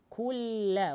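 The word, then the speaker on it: يَكُن لَّهُ: Валям я куляху, тут на Коране написано, я кун ляху, нужно, нун не произносится, нужно сразу после ку ля, лям удвоить, кулля, вот так нужно переходить. Валям я кулля, валям я кулля ху, также ху, ха вместе с у.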